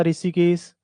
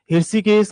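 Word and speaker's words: हृषीकेश: ऋषिकेश के बाद थोड़े दिन में देखना आप तो इसका नाम ऐसा हो जाएगा ऋषिकेश। इंग्लिश में तो ऐसे ही लिखते हैं। आर आई लिखते हैं तो ऋषिकेश ऐसा हो जाएगा। उच्चारण तो ये है। हर्षिकेश का तो कोई अर्थ था।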